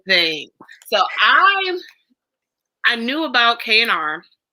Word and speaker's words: KNR: So I knew about K&R. Is it K&R or KR? I want to say it right. It's KNR. Okay. Or it's KNR. It's an N.